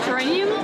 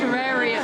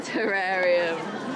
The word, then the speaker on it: terrarium: Oh, I said it wrong. It's a terrarium. Ah, terrarium.